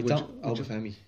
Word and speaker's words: Obafemi: The two youngsters that you mentioned, Curtis and Obafemi, if I can pronounce his name properly. Obafemi.